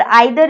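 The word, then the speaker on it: either: Okay friends, और ये जो है ईदर, इसको ईदर भी बोला जाता है, अमेरिकन प्रोनाउंसिएशन इसकी है, और आइदर इसकी ब्रिटिश प्रोनाउंसिएशन है, तो इस बात का भी आपको ध्यान रखना है।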